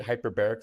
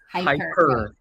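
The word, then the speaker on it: Hiperbaric: Hyperbaric? That's how you say it, right? It's it's H-I-P-E-R. Oh, it's Hyper? Hyper.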